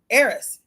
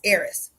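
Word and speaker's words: Eris: the God of War arys was his sister Aris is the sister of Aries okay and arys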